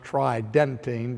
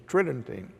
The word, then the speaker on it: Tridentine: tridentine it would sounds like it would be pronounced tridentine but the normal pronunciation is tridentine and so when we look to the conciliar